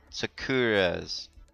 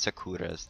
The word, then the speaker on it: Secura: It's my battle right for General Secura's, or Secura's, not Sakura's. That'd be a cherry blossom, and it's not spelled like cherry blossom.